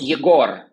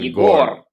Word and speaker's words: Egor: It's Yegor. Igor, like Igor has a stress on E, Igor, and mine has a stress on or. On Yegor.